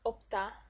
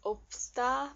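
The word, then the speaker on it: 없다: Another verb that can be mispronounced is opta. Opta. Okay, you'd think it's opsta, but no, that's not right either. Because also they close the sound for this.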